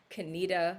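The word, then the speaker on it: Conetoe: good contenders i mean kenita like you know which is spelt like cone toe but i mean there's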